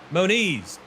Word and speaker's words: Moniz: very good at that dakota mona is moniz i know how to say it right now monies has moved